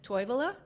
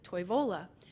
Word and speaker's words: Toivola: And some speakers pronounce it Toivola, and some people pronounce it Toivola. Toivola is closer to Finnish. Finnish stresses the first syllable of every word. And local people will say Toivola, where when other people see it, they might say Toivola.